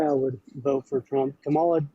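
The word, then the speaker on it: Kamala: Camala, not Camel.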